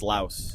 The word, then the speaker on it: louse: It's louse. Louse. Yeah. So you call like one singular lice a louse? I guess. Like louse as in blouse. Like Louse. Yeah, So, it's yeah.